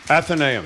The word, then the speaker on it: Athenaeum: And I've been mispronouncing it the whole time. Athenaeum.